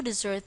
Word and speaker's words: desert: the pronunciation is different it is now pronounced the same as dessert if you've noticed the